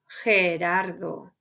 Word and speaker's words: Gerardo: You're going to pronounce it like the H in English, G, like in the name Gerardo. Gerardo.